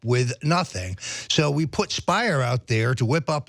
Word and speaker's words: Speier: is congresswoman Jackie Speier Speier rhymes with liar this is this is